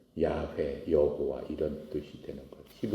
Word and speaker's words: 야훼: 것처럼 하나님의 이름이 여호와예요 영으로 쓰면 yhwh 그렇게 쓰는 거예요 그것을 발음하면은 야훼 여호와 이런 뜻이 되는